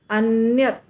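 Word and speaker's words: अन्यत्: ज हम करते हैं लास्ट में त अन्यत जीवा जाता है वहां पर पर उच्चारण नहीं हो पाता है क्योंकि अगर हम उच्चारण करेंगे तो पूरा त हो जाएगा अन्यत अन्यत तो त त जब होगा तो गलत हो जाएगा त नहीं आना चाहिए इसलिए अन्य ओके ऐसे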